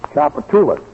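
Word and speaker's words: Tchoupitoulas: Chapatoulas.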